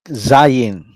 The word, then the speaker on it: zayin: Sorry, Zayin. Okay, like a letter Z. No, is sibilant, meaning you use an S sound to pronounce it.